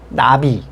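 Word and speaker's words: נביא: 자, 선지자를 뜻하는 히브리어 나비, 우리나라의 나비랑 발음이 같아요.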